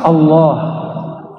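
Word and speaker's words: الله: Allahu bukan itu lafaz Allah Coba baca Allah Misnya orang sudaha bacanya Allah ya Al Allah itu bukan dia lam ketemu lam Allah harus disambung bukan mati dia Allah secara huruf alif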